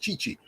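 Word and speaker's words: Tite: our men's manager uh chichi t-i-t-e pronounced chichi uh he is um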